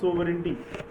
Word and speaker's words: sovereignty: सोवरेंटी की spelling को learn करने के लिए सबसे अच्छा है सोवर से रिलेट कर दो, एंड एंटी को लर्न करने के लिए जी साइलेंट कर दो, एंटी।